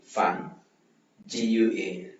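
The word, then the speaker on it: 饭馆: Fan FAN fan GUAN guan. Fan guan fan guan fan guan fan guan fan guan fan guan fan guan.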